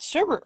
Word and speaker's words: sherbet: Anyways, she's like, "There's no second R. You know, there's no R. Sherbet. There's no Bert."